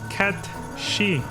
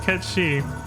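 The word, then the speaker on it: Cat Sìth: supposed to be pronounced K she it's spelled Kat Sith but it's supposed to be pronounced Ki but then and I did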